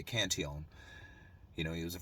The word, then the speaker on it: Cantillon: just recently and as i like to say kanteon you know he was a french guy so his name was actually pronounced cantion um so this cantion effect the way it